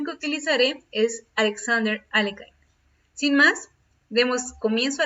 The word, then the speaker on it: Alekhine: bien una de las voces más ocupadas para pronunciar el apellido de este jugador en francés es alexander alekhine he escuchado que en algunas ocasiones se le